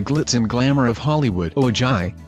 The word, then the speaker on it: Ojai: and glamour of Hollywood oh joy pronounced Ojai is bursting with stunning